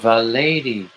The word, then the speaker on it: Valady: You say it's pronounced Virginia Lady? Oh, Valady. Oh, you're a lady in Virginia.